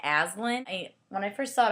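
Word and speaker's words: Aislinn: people it's irish it's it's a really irish name so the pronoun like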